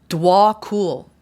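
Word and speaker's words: Djwhal: to help you sorry dwol is how you pronounce this person's name DW cool no known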